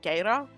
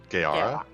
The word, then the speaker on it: Gaara: Trellian and I'm gonna pronounce his poor orc's name because I just always pronounce it Gaera. I think it's just Gaara.